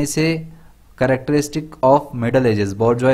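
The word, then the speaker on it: bourgeois: Characteristic of middle edges, बोर्जवा इसका pronunciation होता है।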